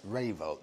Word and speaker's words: Rayvolt: Now, I got the name wrong initially because I couldn't see that R. It's Rayvolt.